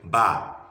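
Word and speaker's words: بَ: Ba. Ba and Fatiha becomes Ba. Again, let me spell it again. Ba, Fatiha, Ba. Ba. How do we arrive at Ba?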